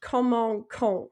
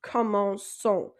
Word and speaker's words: commençons: ONS on the end, it's pronounced comment con, because remember that C makes a K sound, like commence. So that C makes a K sound. So if we add an accent onto it, if we add a CD, it becomes an S sound. So instead of being comment con, it's pronounced commençons.